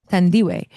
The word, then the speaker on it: Thandiwe: pronunciation, Tandiwe, Snook, Snook.